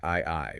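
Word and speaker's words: 愛: And the text begins this proof by looking at the Japanese kanji for love, which is pronounced I I, right? Spelled AI.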